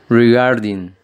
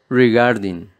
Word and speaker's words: regarding: enroscando la lengua asimismo la fuerza o la acentuación se la hacemos en la segunda sílaba brig harding para que